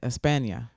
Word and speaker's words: España: España. That's how you say it. España.